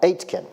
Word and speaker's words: Aitken: It's pronounced like 8, like the number 8, and kin as in your next of kin. Robert Aitken.